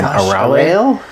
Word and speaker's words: Arale: Arale. Arale. It looks like Arale, but it's extra syllables. It's Arale or Arare in Japanese style pronunciation.